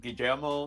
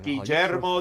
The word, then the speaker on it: Guillermo: So yes, we'll be doing Guillermo del Toro's. Guillermo. Guillermo. Yeah, Joe. Guillermo del Toro. Guillermo. I know how to No, speak Spanish. there's no J in his name. The 2 L's is a J.